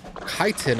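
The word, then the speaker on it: chitin: it kiten apparently is how it's pronounced I pronounced it chitten for a while but it's kiten so I'm going pronounce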